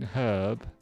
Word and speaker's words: herb: Oh, I just learned today that the Brits pronounce the H in herb, where the Americans don't. Going to Brixton Road shortly for the herb market.